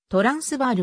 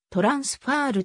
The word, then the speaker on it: トランスヴァール: 向こう側を意味するまたパールトランスバールは英語読みでありオランダもアフリカーンス語ではそれぞれファールトランスファーると発音する 1830 年団より